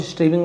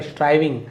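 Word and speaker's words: striving: स्ट्राइविंग, purpose of स्ट्राइविंग, इसे भी लिखिए स्ट्राइविंग, और कुछ स्ट्रीविंग वगैरह नहीं पढ़ना, स्ट्राइविंग।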